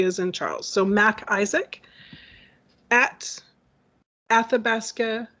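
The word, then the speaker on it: MacIsaac: i will spell i will say it and spell it so it's mac isaac so it's emma's and mary a c is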